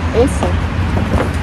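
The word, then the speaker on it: Acer: Аци или как правильно? Я не Эйсер. Эйсер. Эйсер. Мама. Почему Эйсер? Потому что А как Э у них читается. Всегда. А у них как Э читается.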